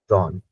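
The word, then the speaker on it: Sohn: लेकिन अगर मैं इसी को कहीं पे देखता हूं ये एच साइलेंट हो जाता है, तो इसको लेते ही नहीं है, यानी लेते ही नहीं है। जॉन, जॉन मीन्स होता है सन।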